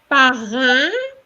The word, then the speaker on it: parrain: Donc, Étienne est mon premier parrain, parrain, hein, which is the same pronunciation as the IN, parrain, Parrain.